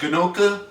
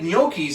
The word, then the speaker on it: gnocchi: Which people really have a wonderful time pronouncing, by the way, because it's spelled with a G. So everybody goes gnocca, gnocchia, gnocchi. It's gnocchi. Gnocchi.